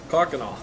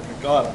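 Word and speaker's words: Kaukauna: Cockanaw. Instead of Kakana.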